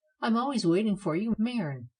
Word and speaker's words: Maren: She used the Elizabethan vowel, as one should pronounce bird, with no sound of u. Maren.